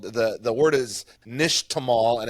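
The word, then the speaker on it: nixtamal: and a process called the the word is Nish Tamal and it's spelled Nix t m a l like like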